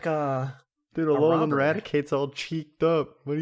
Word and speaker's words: Raticate: So it stems from the English word eradicate, but except it doesn't have the e, so it's just Yeah.